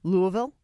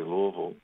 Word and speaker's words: Louisville: Are you calling from Louisville?